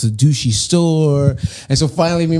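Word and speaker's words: dushi: really funny but like their word for cool is douchy like it's spelled D sh I so everywhere you go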